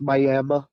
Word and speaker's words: Miami: it's spelled like Miami but it's called It's pronounced Mi for some reason playing at this uh it's